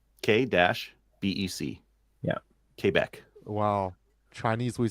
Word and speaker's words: Quebec: How are you supposed to say it properly? Quebec. Quebec. Quebec. K-BEC.